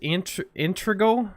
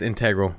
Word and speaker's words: integral: It said Google explained that the Echo Show's implementation of YouTube lacked integral. I guess that's how you say it. No, it's integral.